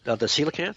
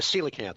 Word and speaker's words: coelacanth: The coelacanth? Yeah, that's it, yeah. What is it called? The coelacanth. It's spelled really weird. It's like a P-S-Y. C-O-E. Oh. But C-O-E is pronounced C.